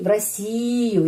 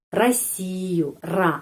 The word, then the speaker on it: Россию: В Россию. Ya, penekanannya di sini. Karena itu huruf O ini pengucapannya A. Россию. A. Bukan Россию. Bukan. Karena penekanan di sini. Huruf O tidak mendapat penekanan. Karena itu pengucapannya A.